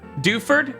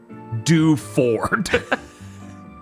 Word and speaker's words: Dewford: You should you should find him in Dewford. Bob, you have real PS2 Gen dub energy. Dewford? No. Dewford. Every word pronounced individually.